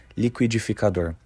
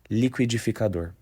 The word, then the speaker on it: liquidificador: you how to pronounce this Brazilian Portuguese word liquidificador the correct pronunciation is lior once again liquidificador however this can vary by region for example